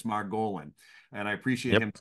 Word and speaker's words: Margolin: And when he sent me a message saying put the accent the emphasis on the O. So it's not Margolin, it's Margolin.